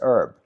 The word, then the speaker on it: herb: But I don't, in America, the word herb, the H is not pronounced. But I don't know if there's any other words where the H is not pronounced. Interesting. So it's just herb.